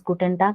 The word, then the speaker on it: guten Tag: it is pronounced as guten tag whereas in the bracket i have written k yeah because whenever a word ends with g it is pronounced as ka we have certain tips